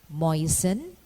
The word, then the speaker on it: moisten: In word spelling, the alphabet letter T is silent when preceded by a letter S in the terminations TEN and TLE, as in moisten, listen, christen, bristle, or whistle. It is silent also in often and soften.